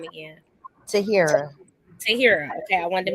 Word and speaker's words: Tahirah: Tahira.